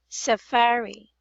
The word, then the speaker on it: safari: ter months okay so this actually is Safari not Safari it's Safa Safari the stress is on the middle middle syllable Safari very very good and